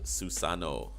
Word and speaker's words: Susanoo: the Great God suicide Susanoo Susa no that's that's how you pronounce it you know from the